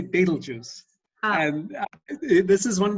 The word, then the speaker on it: Betelgeuse: The first thing I'll comment on is how you say Beetlejuice. So I always say Beetlejuice.